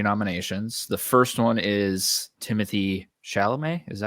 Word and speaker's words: Timothée Chalamet: The first one is Timothée Chalamet.